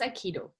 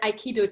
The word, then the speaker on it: aikido: their own definitions um saikido is a japanese word it's a japanese martial art and it uh consists out of three syllables i ki and do and very roughly translated